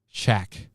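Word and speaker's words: Chaac: And it's not spelled the same. It's C-H-A-A-C. Shack.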